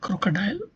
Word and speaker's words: crocodile: In the word crocodile has similarly three syllables and the stress is more on -dile. The primary stress is on -dile.